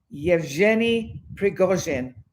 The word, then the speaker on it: Yevgeny Prigozhin: So the astrology of, wait for it, I've learned how to pronounce his name, so just let me get ready for this. Yevgeny Prigozhin. How's that? Cool, eh? So Yevgeny Prigozhin.